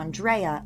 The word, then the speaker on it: Andrea: It’s kind of like the difference between Andrea (An-dray-uh), and Andrea (An-dree-uh), it’s personal preference.